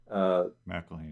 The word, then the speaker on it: McElhenney: And there's also the script, the screenwriting, the lead, Rob McElhenney, I think that's how you say his name, who was in McElhenney.